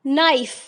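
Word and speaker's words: knife: जैसे नाइफ। अब नाइफ के स्पेलिंग आप सबको पता है, के से बनते हैं। अब नाइफ, के की साउंड आ रही है आपको?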